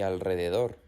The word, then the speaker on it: alrededor: La R se pronuncia fuerte o trillada también cuando está detrás de la N, la S o la L, como por ejemplo en las palabras Enrique, Israel y alrededor.